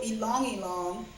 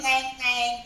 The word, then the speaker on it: ylang ylang: and you're gonna add a little ylang ylang, which is my favorite essential oil.